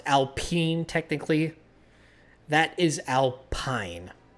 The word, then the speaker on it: Alpine: That is Alpine. P-I-N-E is pine, not peen.